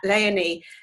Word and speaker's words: Leonie: Now Leonie, her name is actually pronounced like Princess Leonie. So I've got to remember that, Leonie.